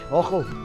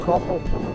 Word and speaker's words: Achall: So basically I'm heading up here up at, James just told me it's Loch Ochel. A is a soft pronunciation, it's Loch Ochel.